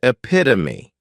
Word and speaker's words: epitome: a catch22 next is epitome this noun has four syllables and the stress is on that second syllable Epi to me this